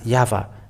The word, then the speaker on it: Yahvah: So it is up to you to think when the Hebrew, when it is read in Hebrew, the yod, hey, vav, hey is pronounced as Yahvah.